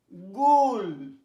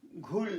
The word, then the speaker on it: GHOUL: আচ্ছা, GHOUL, গুল, গুল মানে কাল্পনিক দৈত্য, গুল, ঘুল না, গুল। আচ্ছা, উচ্চারণ ইউ আছে, তবু উচ্চারণ হয় গুল, মনে রাখো।